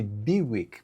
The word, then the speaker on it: Bilyk: Eh, Bilic é um sobrenome, na verdade pronuncia-se Bwick, porque esse L tem um um tracinho através dele.